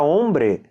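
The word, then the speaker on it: hombre: não são pronunciadas sim vai falar a palavra Ombre o h você não pronuncia que nem no português homem mas no português tem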